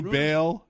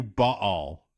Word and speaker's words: Baal: You could do Bale. You could do ball, but ball it kind of ruins all the puns.